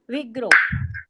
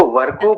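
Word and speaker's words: Virgo: My sunshine is Vigro. Mehta ma'am, आपकी राशि कौन सी है? मेरी राशि विग्रो है। उसको वर्गो बोलते हैं मेहता मैडम, बोलिएगा वर्गो। वर्गो, वर्गो, ओके जी, उच्चारण वर्गो है।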